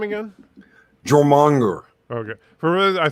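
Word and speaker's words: Jörmungandr: Jormungandr.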